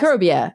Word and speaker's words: Microbia: It's Microbia, right? That's Yes. how you would say that word? Okay. Yes. Microbia, A Journey into the Unseen World Around You.